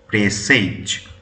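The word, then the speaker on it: presage: ই এস এ জি অর্থাৎ উচ্চারণ কি হয় প্রেসেজ দেখো তোমাদের যার জন্য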